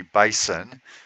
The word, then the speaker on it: Bison: The New England Patriots against the Oklahoma City Bison. Don't pronounce the S. It's already plural without the S.